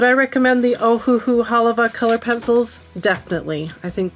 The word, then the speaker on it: Halawa: the valley is that it's pronounced haliva huh with a V instead of a w so hopefully I got